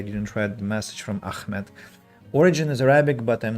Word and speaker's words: Ahmed: read the message from Ahmed. Origin is Arabic, but I'm not Arab, I'm Turk, and I pronounce it softly. Ah, so it's Ahmed, not Ahmed. It's the soft one, Ahmed.